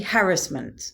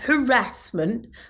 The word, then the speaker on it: harassment: It's actually harassment. That is the correct way of pronouncing it. Harassment, not harassment.